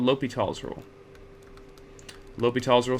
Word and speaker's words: L'Hôpital: And the fifth one, the one that is the hardest for us to reach right now, is called L'Hôpital's rule. L'Hôpital's rule, sometimes written and pronounced La Hospital.